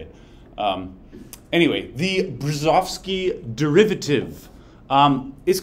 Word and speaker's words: Brzozowski: Tick Tock lady voice it said burzozki which is not how you're not how to say it um anyway the brzezovsky derivative um is called